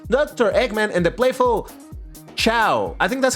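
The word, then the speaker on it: Chao: I was looking it up and I saw people pronouncing it as Chiao. I was like, "Is it KO?" Like Kaos, I don't know. But Chiao seems to be the agreed one.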